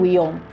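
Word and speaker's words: Wion: historiador benedictino francés Arnold Willon. Y mucho cuidadito que se escribe w i o n y se le w, no huevón.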